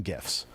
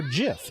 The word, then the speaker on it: GIF: him and it is gif with hard g and you know it's